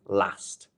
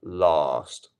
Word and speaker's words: last: vow last not last which is actually once again the northern way of saying this so it is good to know that in the north of England people will probably be saying last instead of last which is a southern thing um okay many many